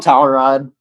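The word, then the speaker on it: Cawrad: just named towel rod it's spelled differently it's spelled c-a-w r-a-d but uh yeah he's he's just called tower rod also too i was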